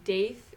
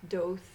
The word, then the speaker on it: Daith: And I'm sure a lot of you have heard about the Daith piercing, or it's actually supposed to be pronounced Doth, I think, or Doth. It's Hebrew.